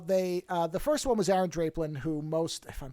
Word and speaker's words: Draplin: Well, the first one was Aaron Draplin, who most... if I'm pronouncing that right. Oh, most it's Draplin.